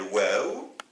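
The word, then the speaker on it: واو: Alors, il s'appelle waw et il se prononce ou.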